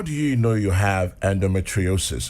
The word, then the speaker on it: endometriosis: Now, how do you know you have endometriosis? Is that the correct pronunciation? Yes, endometriosis.